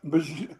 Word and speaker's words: Bijan: They still don't use B.J. Robinson like they should. Who's B.J. Robinson? Well, he's just saying Bijan.